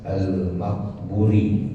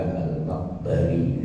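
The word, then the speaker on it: al-Maqburi: Ada bacanya bidhomin, ada juga boleh jawazil fathi, boleh juga Al-Maghbari dibacanya. Nah, beliau mengatakan apa?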